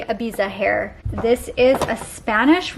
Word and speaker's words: Ibiza: to canada this is i want to say ibiza but sebastian just told me i am saying it wrong so i'm going to say ibiza hair this is a